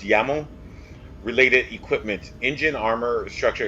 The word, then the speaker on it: YAML: have any y ml I believe it's actually pronounce yammo related equipment engine armor